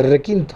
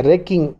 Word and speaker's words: Requi: Y bueno, y no me desagradó el nombre, porque Requi viene de requinto. Requinto, así es. No es como mucha gente pronuncia Requin, es Requi, nada más, sin N. Requi.